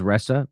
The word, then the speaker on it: Ressa: intercepts announcement of Resa her name is ressa by the way Marissa Resa I guess is how you say it her appointment to